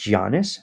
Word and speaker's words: Giannis: Want you to spell it out? Giannis. I know it's Giannis, so I say Giannis.